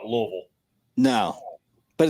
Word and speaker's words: Louisville: How do you say Louisville again? Louisville. Okay, so it switches. It's I never call it Louisville. I never call it Louisville.